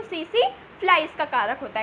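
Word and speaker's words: tsetse: जो टी होता है वो साइलेंट होता है, इसको पढ़ते हैं सी फ्लाई।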